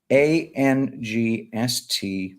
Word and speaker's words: angst: John, ANGST is always pronounced like gangsta for you, me, and regular Americans.